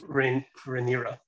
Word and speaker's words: Rhaenyra: I can't pronounce that name. Like, she's Rhaenyra.